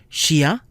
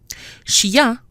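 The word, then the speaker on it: chien: So chia, ya in a single syllable, versus ingrédient.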